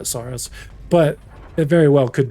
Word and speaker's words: Saros: You think it's pronounced Sorrowos and everyone's just calling it Sorrowos? No, because they've done a lot of trailers and like gameplay behind the scenes where they call it Soros, but it very well